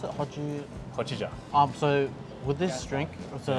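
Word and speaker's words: hojicha: How do you pronounce it? Hojija.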